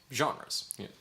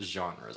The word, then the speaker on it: genres: Say it with like a nice... Jean-Claude Van Damme, but genres.